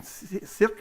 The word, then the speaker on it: Sicre: Sicre. How is that pronunciation? Sicre, c'est bon?